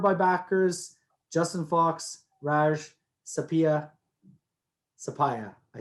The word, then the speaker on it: Suppiah: Justin Fox, Raj, Suppiah. I said it wrong. You got Suppiah.